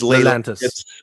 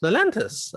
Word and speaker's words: Lelantus: What is Lelantis? Or Lelantis? Yeah, Lelantis. Yeah. Spell it. So Lelantus.